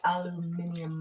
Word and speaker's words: aluminium: It's pronounced aluminium.